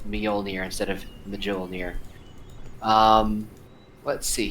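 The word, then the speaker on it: Mjölnir: It's It's pronounced Mjolnir instead of Mjolnir.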